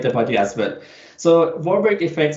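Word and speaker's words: Warburg: little bit more slowly or or or or spell it or something because I missed that completely yeah sure so it's called a warberg effect warberg yes so so like the the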